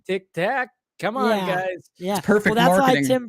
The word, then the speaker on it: Tic Tac: during the hearing that they would mispronounce it to tick tock because it's so I just found that funny like they they would call it Tik Tok I'm like it's Tic Tac come on guys perfect